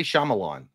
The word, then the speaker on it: Shyamalan: I say Shyamalan.